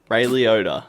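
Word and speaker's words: Liotta: the OA Jackson and uh excuse me for pronouncing this wrong Ray leod Ray leod thank you that's right we'll get you to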